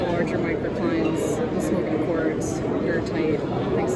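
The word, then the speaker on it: goethite: Well, it's spelled gothite, but I pronounce it gertite.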